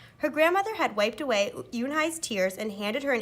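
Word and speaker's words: Unhei: corrected her it spelled you and hei it's pronounced Eun Hye uhh it's you hey the boy said like hey you hey what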